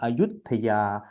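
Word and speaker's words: อยุธยา: वो भी अयोध्या है लेकिन उच्चारण अलग है हम अयथ या कहते हैं अयोध्या लेकिन अयोध्या वही है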